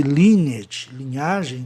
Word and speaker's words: lineage: É o caso, linear e lineage, pegando ali, no caso de lineage, linhagem humana, né? O AGE soa átono no fim, na maioria das palavras. É um grupo sufixal átono, lineage.